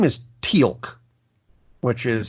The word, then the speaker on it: Teal'c: episode his name is Teal'c which is spelled like the color with a letter C at the end because apostrophes I guess anyway